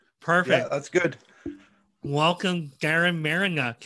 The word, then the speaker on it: Marynuk: ask you to tell me the correct product pronunciation of your last name but i'm going to take a shot this is garen marinock perfect perfect that's good welcome darren marinuck how are you doing today i'm doing good